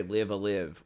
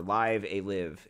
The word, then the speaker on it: Live A Live: Because I always say, sometimes I'll say Live a Live or Live a Live. It's unclear on the pronunciation.